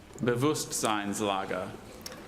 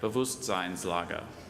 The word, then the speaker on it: Bewusstseinslage: Bewusstseinslager.